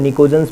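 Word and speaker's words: pnictogens: हम क्या कहते हैं, निकोजन्स भी कहते हैं, PNICOGENS, ठीक है, ये निकोजन्स भी कहलाते हैं। क्या कहलाते हैं, निकोजन्स। P यहाँ पर जो साइलेंट रहेगा भाई, NICOGENS, ठीक है, निकोजन कहलाएगा।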